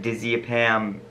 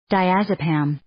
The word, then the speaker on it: diazepam: the rev overdosed on oxicon oxymorphine dizzy pant dizzy pam nort nordisia pam and alcohol i totally screwed up those pronunciations let's actually listen to what it really was oxycodone oxymorphone diazepam nor diazepam all right yeah i totally screwed